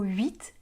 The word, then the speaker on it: huit: Pourquoi on écrit le mot pharmacie avec un P et un H qu'on prononce /f/, alors qu'on écrit le mot huit avec un H qu'on ne prononce pas ?